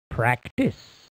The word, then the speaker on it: practice: in the proper order remember the e is silent in the word practice press the slap